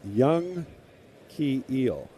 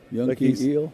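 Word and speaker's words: Yanquiel: They list his pronunciation. He's from Cuba. His they it is Young Key Eel. Yankeel.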